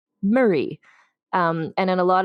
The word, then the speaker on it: Moray: Stewart now became the Earl of moray which in Scotland is pronounced Murray um and in a